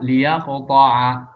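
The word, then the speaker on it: لِيَقْطَعْ: Kalau dibaca wasal, tuksaru lamuha ibtidaan. Kalau seandainya dibaca dari kata itu, al-yaqta', lamnya sukun. Nah, kalau dibaca di awal menjadi permulaan bacaan, dia dikasrahkan lamnya, tuksaru lamuha ibtidaan. Kalau dimulai dari kata itu, maka dikasrahkan lamnya. Sehingga fatuqra'u dibaca liyaqta'a. Kita nggak baca dari thumma misalnya ya.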